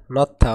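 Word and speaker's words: 넣다: সুরেগি ফংথুয়ে নথা অর্থাৎ ময়লার ব্যাগে রাখা। এর উচ্চারণ হবে নথা, এই দিকে উচ্চারণ হবে থ।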